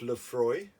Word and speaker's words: Laphroaig: As I said, there's about 10, but Laphroaig, again, pronounced Laphroaig, totally different spelling, of course, on the front, typical Scots, and Lagavulin.